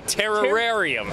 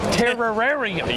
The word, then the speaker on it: Terrorarium: You got to really lean into terror. You got to say Terrarium. Terrarium.